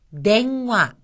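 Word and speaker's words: 電話: 처음에 나온 것은 냉화, 냉화. 여기서는 응이 이응으로 발음이 났죠.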